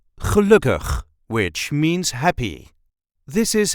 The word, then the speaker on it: gelukkig: a regular Dutch accent gelukkig, which means happy. This is how we say gelukkig. Gelukkig. There is a light emphasis on the second syllable.